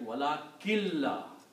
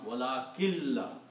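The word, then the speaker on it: وَلَٰكِن لَّا: Also, when you read these two words together, then you do not pronounce the full sound of noon, but make it a like wala killa. Okay? So that's the reason there is a shadda here on lam. Only for the reason that you do not pronounce the noon completely, but you pronounce wala killa.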